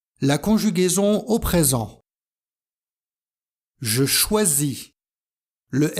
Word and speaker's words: choisis: prononciation du S SI il y a une voyelle avant et une voyelle après il se prononce Z je choisis pour avoir